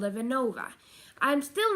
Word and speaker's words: Venova: It's spelled V-E-N-O-V-A, just like it's pronounced.